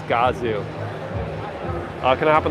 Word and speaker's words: Gazoo: is doing for them I also didn't realize that godzoo racing is pronounced gazi racing I thought it was Gazoo racing it's Gazoo uh can I hop